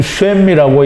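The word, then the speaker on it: שם: 읽기는 쉔이라고 읽는데요.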